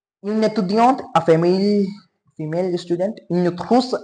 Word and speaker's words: étudiante: Now T would be pronounced because we are having E in the last. Vowel is there, that's why T is not here. This T here, this T, this T is not the last letter anymore. That's why, because we are having E at the ending. That's why this T is not last letter anymore. That's why we have to pronounce it.